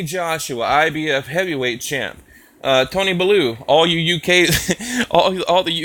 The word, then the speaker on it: Bellew: are telling me, like, you're pronouncing his name wrong, damn it. It's not Bellew. And I'm like, well, you know what? I'm from Texas, damn it, and that's how we say it. Blue, okay?